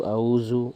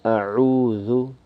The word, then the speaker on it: أَعُوذُ: and the Dhal, Dhu, to make sure that we don't say Au, or that we don't say Zu, Auzu, Auzu, A'uzu. These are all wrong pronunciations. So A'udhu, A'udhu.